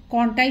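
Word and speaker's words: Contai: করেছি বঙ্কিমচন্দ্রের সময় যে কাঁথি বা ইংরেজি উচ্চারণের কন্টাই শহরটি ছিল নিশ্চয়ই তা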